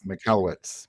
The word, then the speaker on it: Michalowicz: think that series at Mike m is it movich is that how you say it yeah Mike uh Mike mallwitz mallwitz MTZ MTZ okay I haven't been saying